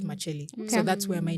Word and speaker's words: Makyeli: But I would want to know how your second name is pronounced. Makyeli. Makyeli. Yes. So, Not Makyeli. Not No. Makyeli. It's Makyeli.